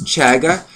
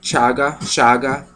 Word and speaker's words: chaga: But it's chaga. It's C-H-A-G-A. Or shaga, however you want to pronounce it.